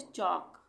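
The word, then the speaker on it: chalk: इसी तरह से चौक, चौक में एल साइलेंट।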